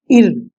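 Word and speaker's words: ø: एक Greek letter है, ये आपका एक वॉवेल है डेनिश लैंग्वेज का, जिसका प्रोनाउंस कुछ इस प्रकार से होता है इर, IR इर, इस प्रकार से इसका प्रोनाउंस होता है।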